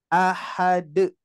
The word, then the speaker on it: أحد: Cara bacanya Pak mudah sekali. Ahad.